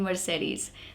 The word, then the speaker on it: Mercedes: these three es in Mercedes they are all pronounced different M SE D all three Es are pronounced differently in this word okay moving on next